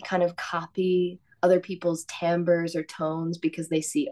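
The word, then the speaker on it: timbre: I I'm obsessed with tamber just FYI it's also a beautiful word isn't it like yeah spelled like timbra like yes t i m b r e I know gives me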